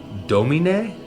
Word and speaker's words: Domine: I think this is pronounced Domine.